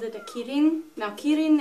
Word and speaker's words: Qilin: it a kidding now Keating is Japanese pronunciation of the same exact word and it actually comes from Chinese culture so it's actually called chillin but like that's an